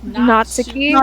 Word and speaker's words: Natsuki: Oh and I suppose Natsuki is that how to pronounce someone's got to let me know what is it which one is it Natsuki it's not Sookie I wish to destroy